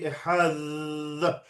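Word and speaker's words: אחד: You can't really do that in modern pronunciation of Hebrew. Da, right? You can't prolong it, but it's a Dal, it's like a TH. It should be Ehad.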